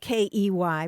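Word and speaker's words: quay: the word spelled quu a y is usually pronounced key it came into English in the 1300s uh spelled ke y but then it was changed uh to the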